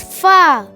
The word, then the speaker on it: ف: hi my name is fa fa fa fa you can spell fa in English as f a a fa it sounds like English alphabet f f for frog F how to pronounce fa